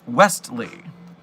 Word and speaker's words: Westley: Meanwhile, just so you know, it's Westley with a T in the case of the Princess Bride. Westley. A lot of people say it wrong or say it quickly, so people move over that point.